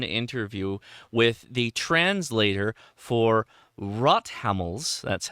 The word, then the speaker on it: Rothammel: a really fun interview with the translator for rot hamls that's how you pronounce it uh the antenna book from Germany